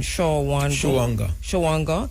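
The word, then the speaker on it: Shawangunk: And how you pronounce this one? Shawanga.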